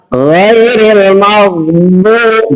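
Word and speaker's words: غير المغضوب: Kalau mengucapkan bod itu harus ada ya ini dari bagian samping bod. Ya, di situ cara membacanya adalah ghairil maghdubi.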